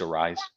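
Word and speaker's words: Arraez: Not just because he's a good baseball player, but because the way his last name is spelled, it's pronounced the same way that my last name is spelled with the aez pronounced.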